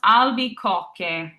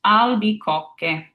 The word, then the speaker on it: albicocche: Now, some of you might have seen that CH and wanted to make it a ch sound. And next, we're going to dive into our pronunciation rules. So I'll explain to you why that's a a K sound when you see the CH.